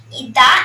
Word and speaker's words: the: THE দি তখনই উচ্চারণ হবে যখন বাউলের পূর্বে বসবে।